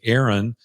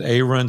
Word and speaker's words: Aaron: You know, I used to tell people all the time they never could pronounce Aaron. They would always say Aaron. And I'm like, hey, my mama said Aaron, so it's Aaron.